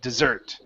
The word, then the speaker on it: dessert: Okay, stress goes at the very end, dessert.